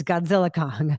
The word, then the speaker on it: Godzilla x Kong: It's Godzilla Kong. The X is silent.